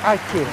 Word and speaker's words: Atjeh: Aceh terenak di Bandung, namanya itu Warung Aceh. Acehnya itu ejaannya ejaan lama, pakai A-T-J-E-H ya gitu.